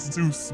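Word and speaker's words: Zos: My name is Zeus, but it's spelled Z O S.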